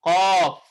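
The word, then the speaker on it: قاف: Dengan 3 huruf, yaitu Qaf, Alif, kemudian Fa. Kan gitu? Dibacanya Qa, kemudian Fa-nya sukun. Qaf.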